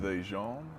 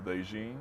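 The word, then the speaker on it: DeJean: his name is it Deon or thein it's like a Dijon like mustard like a Cooper mustard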